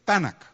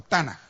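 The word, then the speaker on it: תנ״ך: Bueno, para el hebreo, el Antiguo Testamento había un acrónimo que es Tanakh, ¿verdad? O Tanaj, según lo pronuncie.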